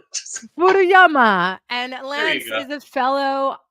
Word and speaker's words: Furuyama: Lance give us your last name um and pronounce it properly for the people it is aama oh or furuyama furuyama and Lance is a fellow Island brother uh